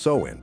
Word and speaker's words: Samhain: It was Samhain, pronounced Samhain, the final day of the harvest and the start of winter, aka the season when everything dies.